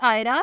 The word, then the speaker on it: AYRA: The next name is आयरा, spelling है AYRA।